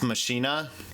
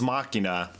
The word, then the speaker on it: Machina: It's like every time my dad says, have you seen that movie Ex Machina? Regardless how many times I tell him it's Machina, it's never gonna say it.